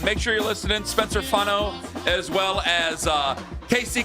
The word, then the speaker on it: Fano: So Concepcion and Spencer Fano, like a fawn.